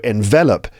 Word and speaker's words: envelop: is the noun but you can see there's a difference in word stress envelop envelop that's three syllables stress on the second syllable he was enveloped and envelope the noun the stress is on the first syllable also enveloped this is